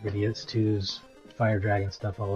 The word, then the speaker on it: Gradius: And if it's pissing anyone off that I keep saying Gradius, great. Because as we learned, that's how it's pronounced from playing Gradius Gaiden.